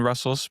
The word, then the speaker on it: Rustls: We pronounce it Russell instead of Russ TLS.